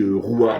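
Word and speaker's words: רוח: Signification du mot roua en hébreu, ben ça se dit roua qui signifie le souffle.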